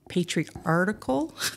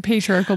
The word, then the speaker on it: patriarchal: at 17 I got my patri article I always say it wrong and my husband corrects me all the time anyways I got my blessing your patriarchal blessing okay and in